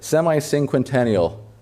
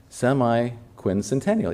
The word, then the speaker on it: semiquincentennial: Semi sing how would you say that? Semiincquentennial. No. Oh my gosh, I said that so many times. Semiquincentennial. Yeah, I think I said it right.